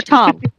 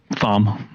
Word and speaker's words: Thom: Or Tom. His friends call him Thom. I mean Tom. Thom. But it's spelled Thom.